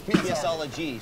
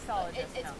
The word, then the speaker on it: PSology: It's PSology. So yes, I am a PSologist. Like psychologist. What? The PS is pronounced like an S. Not like sologist.